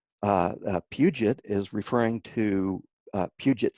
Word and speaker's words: Puget: a lot of people have trouble with the pronunciation there but it's Puget ok a great part of our website of